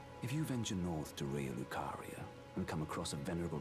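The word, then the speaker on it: Raya Lucaria: one a reckon so R Lucario am I saying it right I keep thinking lari the the Pokemon uh R lucaria hold on I'm sure it says it right here yeah it is R lucaria I keep thinking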